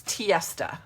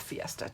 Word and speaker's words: Tiesta: It's tiesta, not fiesta. Tiesta, T-I-E-S-T-A, tiesta. Rhymes with fiesta, but it has a T.